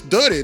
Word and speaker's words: Dutty: And I'll just say, "Yeah, that's duddy, not duty."